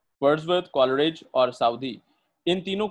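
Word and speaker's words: Southey: Known है sorry, और उसका नाम है रॉबर्ट साउदे, साउदी या साउदे, ठीक है, साउदी वैसे ज्यादा इसकी मशहूर प्रोनाउंसिएशन है।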